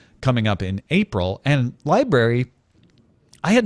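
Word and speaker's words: LBRY: I assume you pronounce it library but it's spelled lbr y says it has all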